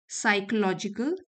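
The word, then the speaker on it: psychological: Her stories usually dealt with complex साइकोलॉजिकल problems. P silent है।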